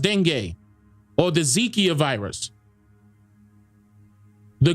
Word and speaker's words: dengue: Dengue or dengue or dengue. Now that's pronounced dengue, or the Zika virus.